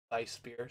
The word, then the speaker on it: Weissbier: Weissbier, sorry, I should pronounce it right.